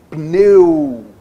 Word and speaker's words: pneu: Por isso que a gente fala que o P é mudo. Pneu.